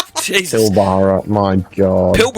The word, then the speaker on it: Pilbara: Pilbara, my god.